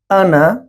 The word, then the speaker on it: أنا: In this word ana, there is alif is silent.